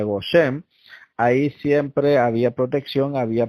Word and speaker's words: Goshen: Pero así como Hashem guardó a Israel mientras estaban cayendo los golpes, y en Goshen, que es la palabra en hebreo se pronuncia Goshen, ahí siempre había protección, había provisión.